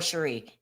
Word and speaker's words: Cherie: She pronounced it Cherie. Eerie feeling. But thank you. Is it Sherry or Cherie? That might be Cherie, because that's exactly how my aunt pronounced her name.